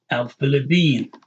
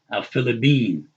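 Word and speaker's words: الفلبين: Al-Philippine, the Philippines. See, we had that ba here because there's no P in Arabic. Al-Philippine.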